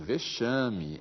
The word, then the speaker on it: vexame: Em vexame, em máximo, o X soa como C.